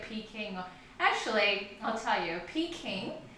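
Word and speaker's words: Peking: actually I'll tell you pe King is the Cantonese pronunciation of Beijing so Beijing that's where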